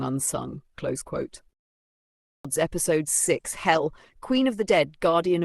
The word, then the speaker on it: Hel: Hell, pronounced hell like the English word, is the Norse goddess of the underworld, not to be confused with the Christian hell.